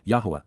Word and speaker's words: Yahowah: the association with Beth, Yahowah, Yahowah, the proper pronunciation of the name of Eloah, God as directed in his Torah, teaching regarding his higher existence and our shalom, restoration.